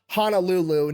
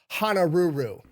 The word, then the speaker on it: Honolulu: So Guy yells out, "Honolulu," knowing that a Japanese person trying to copy English would pronounce it honoru.